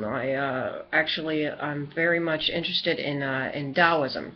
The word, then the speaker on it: Taoism: I'm very much interested in Taoism, Taosim. Spelled with a T, but it sounds like a D.